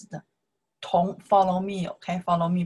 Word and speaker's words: 同: The first one, we pronounce the tong. You can see the character here. This character, we pronounce the tong.